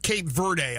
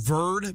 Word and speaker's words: Cape Verde: I looked it up, everything said Verde, you don't pronounce the E, but anyway, I mean, don't believe everything you read, I guess, on the internet.